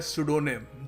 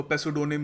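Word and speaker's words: pseudonym: देखिए अगला शब्द है सुडोनिम। जी हाँ, पी साइलेंट है, हम इसको पेसुडोनिम या जो भी नहीं कहेंगे, इसको हम कहेंगे सुडोनिम।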